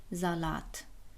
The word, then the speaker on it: Salat: like the word 'Salat'. It isn't pronounced /sʌlʌt/,it's pronounced /zʌlʌt/.